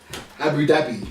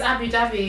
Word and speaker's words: Abu Dhabi: Abu Dhabi. It's Abu Dhabi. It's actually Abu Dhabi.